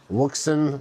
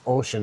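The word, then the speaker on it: Wouxun: My main GMRS radio is Wuxin, or it's called Ocean. Wusan. It's Ocean is how you pronounce it, but it's a actual Type 95 GMRS rated Thanks for coming, Michael.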